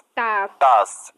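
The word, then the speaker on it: status: সয় টয় একার স্টে এখানে এ লেটারটা কেন এ এর মত উচ্চারণ হলো সেটা হল যে ভাওয়েলটি ভিসিবি রুলস এর মধ্যে পড়েছে এর কারণে এর লং সাউন্ড হচ্ছে।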